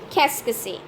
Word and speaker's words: Qu'est-ce: This Q-U'-E-S-T-CE is pronounced all together as in Qu'est.